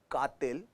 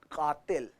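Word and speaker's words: क़ातिल: नहीं बेटा, उर्दू का प्रोनाउंसिएशन अलग हो जाता है। कातिल, इट्स नॉट कातिल, इट्स कातिल।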